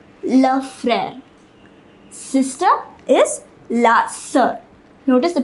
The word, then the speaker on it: sœur: It is pronounced sœur.